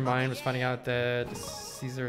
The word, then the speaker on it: Caesar: I think that blew your mind was finding out that Caesar is actually pronounced closer to Kaiser than it is the Tsar.